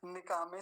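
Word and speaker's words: निकामे: अगला शब्द देखिए पेस्ट निका में निका में दोनों भाई भाई एक साथ बैठे हैं पेर है निका में निका में अब य निकम्मा मत समझ लेना कि निकमा जैसा कुछ मामला है वैसा नहीं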